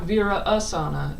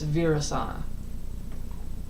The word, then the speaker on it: Virasana: So it's not Vira Asana, it's Virasana. Virasana.